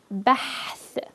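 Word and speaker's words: بحث: Together it's bahth, bahth. It's always the most challenging to pronounce the ha in the middle of a word, but you'll get this, just keep practicing.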